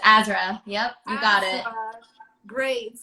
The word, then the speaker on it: AZRA: so everybody go stream that um and it's pronounced ezra yes it's azra yep you got it great uh she's a